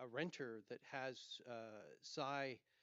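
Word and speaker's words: Sia: renter that has uh Sai and that's spelled s AI uh cryptocoin to rent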